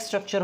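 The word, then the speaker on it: stalk: हमने कहा था कि हमारे पास एक थ्रेड लाइक स्ट्रक्चर होगा जिसे हम क्या नाम देंगे? फिलामेंट, या दूसरा नाम क्या हो सकता है इसका? स्टार्क। ठीक है, स्टार्क, एल साइलेंट होता है, स्टार्क।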